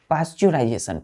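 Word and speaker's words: pasteurization: पाश्चराइजेशन पाश्चराइजेशन पाश्चराइजेशन पाश्चराइजेशन अब यहां पर बच्चों ई यहां पर साइलेंट होता है हम प्रोनंसिएशन क्या करते हैं इसका पाश्चराइजेशन पाश्चराइजेशन यहां पे ई यहां पे साइलेंट हो जाता है मतलब ई को हम नहीं पढ़ते हैं पाश्चराइजेशन पढ़ते हैं क्या है द प्रोसेस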